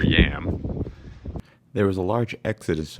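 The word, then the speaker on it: Yealm: mean this is fantastic called the river Yelm locals per pronounce it River yam there was a large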